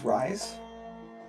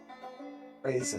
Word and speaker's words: Reza: Would you say her name was Rise? Raise? Yeah. Reza. Reza, thank you.